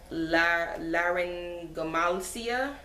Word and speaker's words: laryngomalacia: But the diagnosis, they said it was, I don't know how to pronounce this word, but it's laryngomalacia. If I'm pronouncing it right, LARYNGOMALACIA.